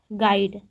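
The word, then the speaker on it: guide: तो दोस्तों इसमें क्या साइलेंट हो जा रहा है, यू साइलेंट हो जा रहा है। हम लोग गाइड पढ़ रहे थे, गाइड में जी आ रहा है, आई आ रहा है, डी और ई आ रहा है, लेकिन यू नहीं आ रहा है।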